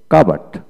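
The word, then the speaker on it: cupboard: তারপরে কাবার্ড, কাবার্ড, সি ইউ পি বি ইউ আর D, part, কাবার্ড।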